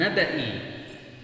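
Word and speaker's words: نبإ: Walaqad ja'aka min naba'il mursalin. Ya, padahal yang benar adalah min naba'i. Ya, banyak dibaca panjang tapi dibaca pendek.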